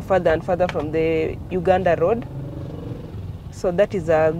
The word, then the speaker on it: Uganda: Pearl of Africa, Uganda, or Uganda. Adia, how do you pronounce it? Uganda.